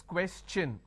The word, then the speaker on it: question: is sure sound no when i have the word question the t-i-o-n becomes cha no so it becomes question all right so please